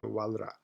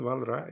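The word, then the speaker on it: Walras: his name but it's French so they don't pronounce to last s in the end of this his name so WRA so Leon WRA is the the great Economist classical Economist in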